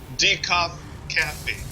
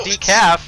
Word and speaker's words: DecofCaffee: DecofCaffee. DecofCaffee? Yeah. But it's like deck of, like, look, it's not decaf or decoff, there'd be two F's there.